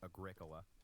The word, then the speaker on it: Agricola: that agrica and yes thank you for the pronunciation correction it is Agricola Nota which yeah I agree sounds like some